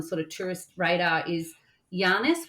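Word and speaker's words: Llanes: of tourist radar is yanis which is spelled with a dou l a NES and ribber deelia now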